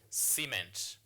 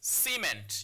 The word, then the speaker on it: cement: Now, the word cement here has two syllables. Now, so it's C then ment. So it's cement. You don't say cement, it's cement. So this word here has two syllables. Therefore, you place your stress marker on the first syllable.